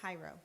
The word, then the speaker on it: Hiro: third one cairo ira we said it right hiro okay remember hi and ro okay that'll help you